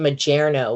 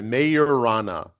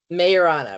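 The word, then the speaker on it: Majorana: Mayorana. Mayorana. Right. Because I think it's named after uh somebody who's German or Spanish, so the J becomes a Y.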